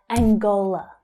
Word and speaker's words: Angola: Angola. Again, it's that same stress pattern. Angola. The stress is on the second syllable, but notice as well that the consonant sound is there instead of ang, Angola.